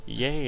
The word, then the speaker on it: Yae: think you mean so i'm gonna keep going with yay because i don't like the eye that does not sound right yay is how they say it in hong kong impact so the head